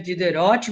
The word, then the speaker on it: Diderot: E aí, é muito legal com o Diderot, se escreve Diderot, mas se fala Diderot, e com o Voltaire, né?